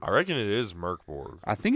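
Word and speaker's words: Mörk Borg: Yeah, I mean, whatever that, which I read it in the book that it's pronounced Merc. The first part is Merc.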